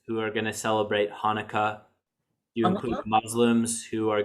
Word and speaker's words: Hanukkah: can you help me to type that out hanukkah yeah sure okay i guess it does like that they sometimes spell it with the ch2 yeah but the ch